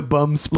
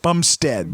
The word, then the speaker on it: Bumstead: And the bum spread. Like I would just have those sandwiches for his that last whole name? relationship. Bumstead.